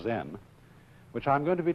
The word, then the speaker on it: Zen: Zen, of course, is a Japanese word, and it's spelled Z-E-N. And that is the Japanese way of pronouncing the Chinese word Chan. And this, in turn, is the Chinese way of pronouncing an Indian Sanskrit word, dhyana.